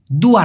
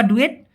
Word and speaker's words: dua: দেখুন, অনেকে বলে যে ভাই ডয়ের উচ্চারণটা কেমন হবে। এই ডয়ের উচ্চারণটা মালয়েশিয়ান ভাষায় সব সময় বলতে গেলে ড এর মতো উচ্চারণ হয়, ডি, যেটা DUA, ডুয়া, দুয়া না কিন্তু, হ্যাঁ, ডুয়া, ডুয়া।